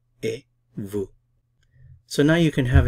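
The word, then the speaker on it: et vous: you mer and you e Vu Vu notice I'm not pronouncing the T I'm not pronouncing the s e Vu e Vu so now you can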